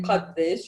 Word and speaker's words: قديش: And how much is addesh? You can say qaddesh if you want, but it's easier to say addesh. Or sometimes we don't pronounce the last sheen. We say adde.